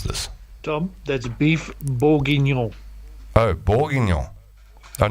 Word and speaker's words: bourguignon: Tom, that's beef bourguignon. Oh, Bourguignon. Oh, not Bourges. Bourguignon. Are you sure? Tom, that's beef bourguignon. Bourguignon. Oh, yeah, well, you got the no, right?